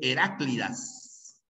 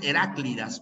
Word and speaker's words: Heráclidas: continuemos por ejemplo aquí mucha gente pronuncia más y dice heraclidas no es heráclidas por si acaso ya es una obra de eurípides se pronuncian las heraclidas heraclidas una palabra grave que termina en vocal ya grave que termina